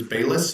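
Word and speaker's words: Bailis: So speaking of workday, they've hired and I might be mispronouncing his last name, but I believe it's Bis. It's B A I L I S. So it might be BIS, but he is joining workday as their chief technology officer.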